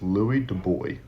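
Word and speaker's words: Louis de Broglie: Um there was that and there's a science there was a French scientist his name was Louis de boy which is how you kind of pronounce it in French but he had the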